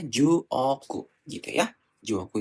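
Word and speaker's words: 十億: di atas aja ya biar bingung ini akan dibacanya ini disebutnya Ju Oku itu satu miliar Nah untuk 10 miliar berarti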